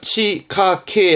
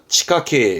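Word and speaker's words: 地下茎: 있잖아요 요거 그러면 지하경 뜻은 땅속에 있는 줄기 발음은 그렇죠 치카케 하면 치카케 요렇게 되겠지 그렇게 들어가는 거야 자 사사라는 것은요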